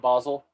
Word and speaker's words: Basel: Do you know about Art Basel?